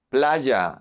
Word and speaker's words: playa: Remember that this one is pronounced like the double L.